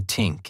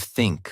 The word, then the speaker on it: think: Most people say tink instead of think or dis instead of this. So for 7 days, I focused only on that one sound.